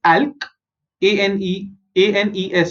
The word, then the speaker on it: alkanes: Okay, so ALK is alk, ANES is anes.